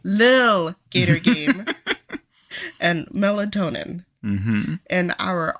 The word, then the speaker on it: Lil Gator Game: Starting with our standard vote, which is a tie between Little Gator Game. Lil Gator Game. Little. No, there's no T. It's Lil. Lil Gator Game.